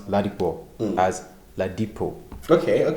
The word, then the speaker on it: Ladipoe: What amazes me is how, everybody credits you for being one of the best lyricists in Africa, and the name Poe or Ladipoe rhymes with poets.